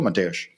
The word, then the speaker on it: Mateusz: Welcome to the show, Mateusz. Hi everyone. Well, first of all, I think I did pretty okay with the pronunciation, Mateusz.